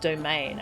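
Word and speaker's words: Doman: The minister's pronounced domain.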